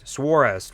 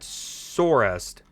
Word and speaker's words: Swarest: Dude, thank you so much, Swarest, right? That's what Katie said it should be pronounced. You said Sorest. Do I need to add the W in there?